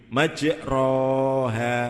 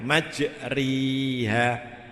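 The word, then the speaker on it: مجراها: Bacanya majriha, majroha, majriha. Lah, ini alif dicondongkan mendekati, bukan tengah ya. Kalau tengah ada namanya sendiri, tapi ini mendekati kepada ya atau kepada kasroh.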